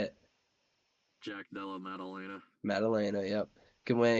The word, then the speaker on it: Maddalena: Maddalena, yep.